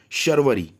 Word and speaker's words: शर्वरी: जैसे अगर श है तो श ही करिए, स ना करिए उसका उच्चारण। जैसे यहाँ पे रात्रि की पर्यायवाची में क्या लिखा है, शर्वरी, शर्वरी, निशा, शर्वरी, निशा,